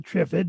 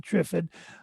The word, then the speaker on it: Trifid: the triffid nebula which i call it the trivid and i notice you call it the trifid this individual insisted it's called the trifid so it's spelled t-r-i-f-i-d uh take your pick it's a cool nebula